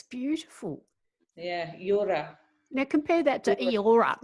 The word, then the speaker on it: Yura: No, well, linguistically, there are no E's in East Coast Australian languages, right? So first of all, Eora is completely wrong because it's spelt with an E and the sound E is wrong. And so the real word is Yura, Y-U-R-O-R-A, Y-U-R-A, Yura.